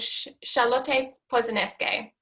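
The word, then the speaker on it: Charlotte Posenenske: So what I wanted to share with you is the work of a German minimalist artist called Charlotte Posaneske. I had to ask my German friend for that pronunciation.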